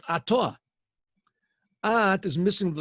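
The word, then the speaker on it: אתה: God, you, it's pronounced Atah.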